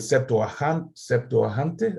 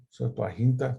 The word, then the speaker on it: Septuaginta: En primer lugar, porque el autor de Hebreos usa el Septuaginte, así se dice, Septuaginta, se me olvida cómo se dice en español.